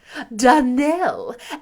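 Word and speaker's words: Donnell: would set it right Danel Accent on the last syllable and St Clair on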